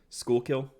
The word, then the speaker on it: Schuylkill: back in my head schuylkill yeah i was close school kill so yeah that's such